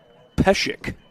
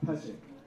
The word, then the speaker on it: Peshek: Batting for the Saints, number 36, Peshek. Now, don't be fooled by how his last name is spelled. It's spelled P-E-S-E-K, but the S is pronounced more like an S-H.